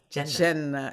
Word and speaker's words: Jannah: hell, and is perhaps you can correct my pronunciation. Is it Jannah and Jahannam? Oh, Jannah. Jannah is paradise, is heaven.